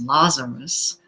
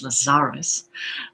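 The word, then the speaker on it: Lazaris: For those of you who don't know Lazarus and many people think the name pronounces Lazarus but it's Lazarus.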